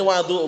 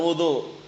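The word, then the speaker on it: وضوء: beda atau sama bed ini wadu bacanya jangan wudu wadu berarti kalau wadu Air artinya kalau wudu perbuatannya wadu airnya ngartikannya bagaimana?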